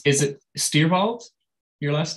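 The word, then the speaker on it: Stierwalt: and it's is it steer bald your last name uh yes if appropriately said um but how would you prefer it said i just say stairwalt you pronounced it like better german uh how does that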